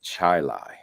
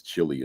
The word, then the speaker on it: Chili: school district called Gates Chili. It's spelled like chili. I thought it was Gates Chili until they told me yesterday, you know, you got that wrong. It's Gates Chili.